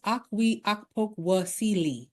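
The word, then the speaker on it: Okwui Okpokwasili: Her name is Aqui Akoka. I And I have to say it like that cuz that's how it's pronounced.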